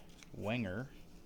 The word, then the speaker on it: Wenger: There are two companies that are authorized or make Swiss Army knives, and that is Victorinox and Wenger, I believe is how it's pronounced.